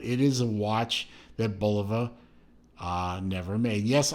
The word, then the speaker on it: Bulova: is a watch that Bulova never made yes I pronounce it Bulova not Bulova you know I'm sorry Bulova sounds silly to me I'm not gonna say